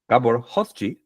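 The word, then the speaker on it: Gábor Hojtsy: Gabor from Drupal, Gabor Hoschi, I believe is how you say his last name, he created Upgraded Status.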